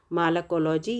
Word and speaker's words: malacology: के अंदर करते हैं, उसे कहते हैं मालाकोलॉजी या मेलाकोलॉजी भी कह सकते हैं।